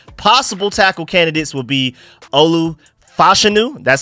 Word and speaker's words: Olu Fashanu: draft trade chart possible tackle candidates would be Olu fashanu that's how you pronounce his name now I'm hearing recently Troy